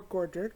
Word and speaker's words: Godric: on some information for Godric Gryffindor so Godric or Gorger depending Godric or Godric depending on where you're from you hear pronounced both ways he is one of